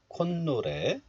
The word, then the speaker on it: 콧노래: So in this case, the 사이시옷 is pronounced as 니은. And 콧 becomes 콘. 콧노래.